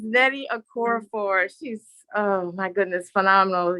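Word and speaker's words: Nnedi Okorafor: And I was waiting to let her pronounce the name. Yes, it's Nettie Okorafor.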